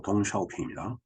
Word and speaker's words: 덩샤오핑: 등소평 중국 발음으로 덩샤오핑입니다.